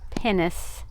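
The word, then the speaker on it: pinnace: I did look up one of the words that I came across yesterday that I didn't know what it was and it's pronounced pennis.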